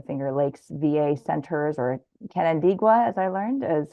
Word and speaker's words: Canandaigua: Orna is from the Finger Lakes VA Centers, or Canandaigua, as I learned, is how to pronounce that.